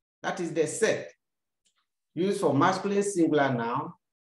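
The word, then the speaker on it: cette: at it sex another set c e t t e this time around we have different spelling of the sets but the same pronunciation before a feminine singular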